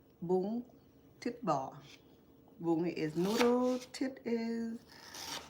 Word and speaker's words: Bún Thịt Bò: I know I won't be able to say it right, but it's called Bún Thịt Bò.